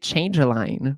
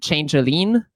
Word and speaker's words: Changeline: People just like I'm French so I pronounce it changelene and usually people pronounce it this way but I always I'm